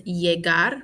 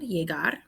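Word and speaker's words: llegar: teach is in seniar to arrive is yeagar remember two l's make the y sound jaegar to need is necesitar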